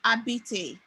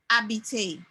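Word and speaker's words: habité: sound that you're hearing you realize that the h was not pronounced but that rather the a ah so abby abite from this research today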